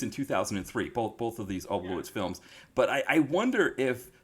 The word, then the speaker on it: Oblowitz: The V sounds like RF and the W sounds like RV. That there's a yeah. I'm pretty sure they are 20. So Yeah. I think that they might just pronounce it as a W.